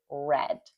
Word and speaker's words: read: It's written the same but spelled totally or spelled the same, written the same but pronounced different, pronounced as red.